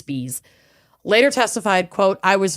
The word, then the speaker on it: Spies: August spes or spay it's spelled spies but it's not pronounced that way and now I'm I'm having a hard time remembering how it's pronounced right I think it's Spees later testified quote I